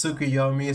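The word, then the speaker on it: Tsukuyomi: like that was Sukuyomi.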